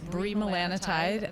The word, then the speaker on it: bremelanotide: you no I was not of course not bremelanotide is that how you pronounce it and it's h the brand name will be byi vessi by byi yes and it's bremelanotide that's correct it's uh it's basically one of